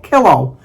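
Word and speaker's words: Killough: Thankfully, Melissa told me to pronounce it as pillow, but kilo.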